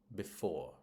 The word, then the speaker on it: before: However, in two-syllable verbs, prepositions, and connectors, it's usually stressed on the second syllable. So we've got arrive, behind, before, right?